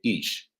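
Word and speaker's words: איש: We have the spelling of Ish, pronouncing or the pronunciation being Ish.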